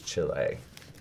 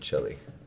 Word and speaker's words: Chile: of every day and the the way to pronounce it is Chile not Chile right right Chile is you eat from Texas